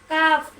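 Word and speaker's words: calf: তার আগের লেটার যদি এল হয় তখন এল সাইলেন্ট হয়ে যায় যথা কাফ মাশাল্লাহ গুড সুন্দর প্রশ্নের উত্তর দিয়েছেন যে কোন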